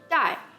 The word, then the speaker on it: 代: Now the word 代, that means generations within this context, has the same pronunciation as the word bag, so you can see how it correlates with the lucky bags.